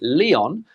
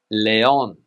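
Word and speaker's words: León: the north of Spain in English we would say Leon but in Spanish Leon Leon Leon another popular tourist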